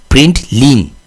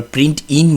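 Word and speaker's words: println: এখানে আমরা লিখেছি প্রিন্ট এটা কিন্তু আইন না এটা হচ্ছে এলেন প্রিন্ট লিন এল এন তো উচ্চারণের সময় অনেক সময় ভুল হয় আমরা প্রিন্ট ইন বলি বাট এটা নট আই এন এটা হচ্ছে এল এন প্রিন্ট লিন ওকে এটা মনে রাখবেন সবসময়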